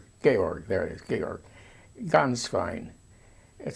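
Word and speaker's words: Gänswein: Ganz fein. It sounds like ganz. It sounds like the word for goose in German.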